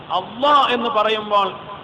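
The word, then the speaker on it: الله: ഉച്ചാരണം ഓരോന്നിനും മഹ്റജ് ഇന്നതാണ് അള്ളാ എന്ന് പറയുമ്പോൾ അത് ളാദ് അല്ല പിന്നെ വലാലല്ലീൻ എന്ന് പറയുന്ന ളാദ് അല്ല ളാലിം എന്നൊക്കെ പറയുന്ന ളാഹു അല്ല അള്ളാ എന്ന് പറയുന്നത് കനപ്പിച്ചു ആ ഉച്ചാരണത്തിന് പോലും അതിനുപോലും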